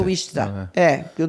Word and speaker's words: Wichita: Ele e mais 3 irmãos, né, no estado de Kansas, Wichita. Pode ser. É Wichita. A pronúncia é que nem Massachusetts.